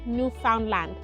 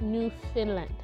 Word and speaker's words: Newfoundland: new finland and not newfoundland yes it is spelt as newfoundland but it's actually pronounced new finland okay so just a